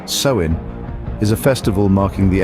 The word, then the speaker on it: Samhain: a bone deep reality samhan pronounced sein is a festival marking